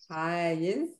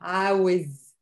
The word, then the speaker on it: عايز: So they use Aza and it becomes the masculine one is Ayez. Ayez. And some Egyptian pronounce it with wow, Awiz. Ayez or Awiz.